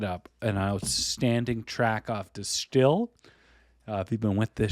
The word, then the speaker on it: De Stijl: an outstanding track off distill. If you've been with this show, you know that I've hummed and hawed between pronouncing it distile or distill the Dutch sounding way.